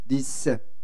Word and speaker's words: 리셋: 그래서 립셋 시키라고. 립셋 맞습니까? 영어가? 근데 발음 굉장히 좋잖아요. 립셋 시키는 거예요. 그렇게. 사람도 립셋을 시켜야 돼요. 립셋. 리셋. 리셋. 리셋.